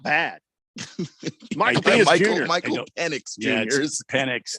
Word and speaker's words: Penix: Yeah, Penix, not. I said that. Michael Penix Jr. No, you said penis. That's an X. Sometimes the X is pronounced with an S.